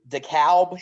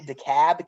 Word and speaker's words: DeKalb: it's alabama yeah but that dekalb county dekalb county i've heard it yeah that's how i've always heard it said i'm glad i said it right the first time so we want these